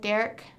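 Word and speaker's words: Dirk: it oh it was spelled d-i-r-k but it's pronounced like Derek like kind of like it was like Derek more so but like people caught him dark like all the time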